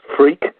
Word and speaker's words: Freke: an old-fashioned English name it's pronounced freak but which is kind of funny and makes you grow up with a sense of humor but it's not spelled in the normal way it's spelled f-r-e-k-e so you put in tin